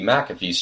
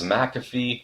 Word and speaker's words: McAfee: can check out Anndi McAfee's channel in the description below. And by the way, yes, I know I've been saying her last name wrong all this time. It's McAfee, not McAfee.